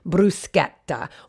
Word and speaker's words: bruschetta: chi or che and the c h sound in italian is a hard k sound that's why it's pronounced bruschetta or chianti like that's